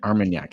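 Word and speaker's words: Armagnac: point out AR armanac armanac thank you it's like CAC but with an arm yes yes and so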